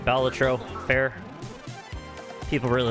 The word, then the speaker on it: Balatro: Is that the first win for Balatro? Or Balatro? Apparently I've been saying it wrong.